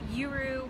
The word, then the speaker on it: YURU: guru meditation and mindfulness youru stems from it rhymes with guru and the tagline where